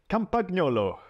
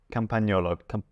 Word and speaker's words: Campagnolo: Campagnolo. Good pronunciation, like that. Actually, no, I pronounced the G. Campagnolo.